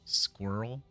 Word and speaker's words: squirrel: Like swirl, but then with the Q, squirrel.